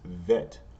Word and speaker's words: vet: alphabet and then remember whenever there's not a dot inside like here there's not a DOT it's going to be a v sound so it's vet or vet okay and